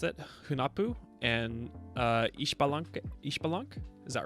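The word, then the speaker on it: Ixbalanqué: Hunapu and Ishbalank. Is that right? I know the X is like pronounced like sh in a lot of native languages.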